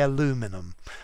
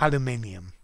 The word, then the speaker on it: aluminium: you need them yeah the americans say aluminum but aluminium so who's been sleeping